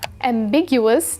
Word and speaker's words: ambiguous: different directions at once the stress is on the second syllable big which you can